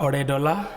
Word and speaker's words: Oredola: Oredola, c'est bien ça, hein, j'ai bien prononcé? Oui, c'est ça, Oredola.